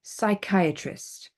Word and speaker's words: psychiatrist: just pronounce the m p is not pronounced at the beginning of many words especially when it's with the suix psych okay psychiatrist Psychotherapy psychotic okay that's PS y c k psych PS y c k but we don't pronounce the P or for example my